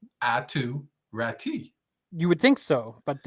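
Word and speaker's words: Aatu Räty: hell is that and it's at to rati it's no rat too no it is uh Finnish pronunciation and it is yeah somebody else said that and I was like I think they're pronouncing it wrong yeah I think the whole world is pronouncing this name wrong it's ATU rati you would think so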